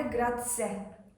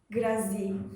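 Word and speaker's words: grazie: telaffuzuna çok zorlanmıştı Eee Normalde grat diye söyleniyor ama ben hep başlarda grazi graze tarzı telaffuzlar yaptığım zaman düzeltildimi ben de lehçede önce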